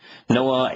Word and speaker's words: Noah: Noah in Hebrew, pronounced exactly the same way as it's transliterated into English, means to guide and to lead to safety.